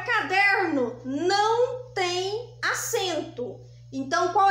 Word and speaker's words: caderno: o caderno caderno caderno Qual que é a sílaba mais forte é o der der bom então ela é classificada em paroxítona por quê Porque a penúltima sílaba é a mais forte então quando a gente